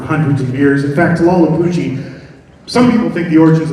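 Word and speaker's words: Tlahuelpuchi: We'll start with our first one, and this is, I'll give anybody a penny if you can pronounce this name. Anybody? Tlalhupuchi. Tlalhupuchi.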